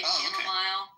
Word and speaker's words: chamomile: Is it spelled like mile? Does it have an E at the end of it? It is. Yes, it is. Okay, well that makes sense why people would do it then.